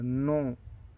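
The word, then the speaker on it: know: नो मतलब जानना होता है। यह के एन ओ डबल नो मतलब जानना होता है हिंदी में। और एन ओ नो नहीं होता है।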